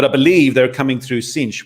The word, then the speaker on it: Sines: believe they're coming through cinch which i found out is called cinch in portugal not sines as you might see it on the map as an english speaker so that's s-i-n-e-s everybody but that beautiful pronunciation